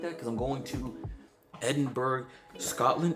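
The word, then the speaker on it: Edinburgh: cuz I'm going to Edinburg Scotland is it Edinburg Edinburough it's spelled like Edinburg but when I hear people say it they be saying Edinburough am I doing everything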